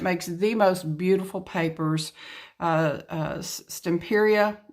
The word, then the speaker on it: Stamperia: the most beautiful papers, Stamperia, I believe is how it's pronounced.